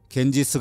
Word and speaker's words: 갠지스: 겐지스 어머니 가라고 부릅니다 강가는 강의 여신 이름이고요 스는 를 지배한 영국이 강가를 영어식으로 발음한 이름입니다 겐지스 숭배의 대상이 되면서 점차